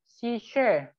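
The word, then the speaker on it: şişe: Shishe. Nah, ini cara membacanya. Shishe. Shishe. Jadi S yang ada ekornya itu sama seperti bahasa Indonesia SY ya.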